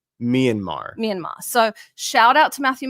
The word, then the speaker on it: Myanmar: And for the earrings, who does not buy his amber from Myanmar, who also corrected me because I was calling it Myanmar and it's apparently pronounced Myanmar. Myanmar.